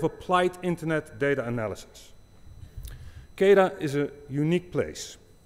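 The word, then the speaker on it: CAIDA: Casey Casey lates Kara not Qaeda I was just explained that that is the wrong way to pronounce it the center of a plight internet data analysis kaida is a unique place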